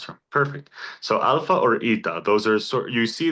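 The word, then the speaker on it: ήτα: So, alpha or ita.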